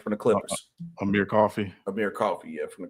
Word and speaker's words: Amir Coffey: Amar Coffey of Coffee. I think I said it right from the Clippers. Amir Coffey.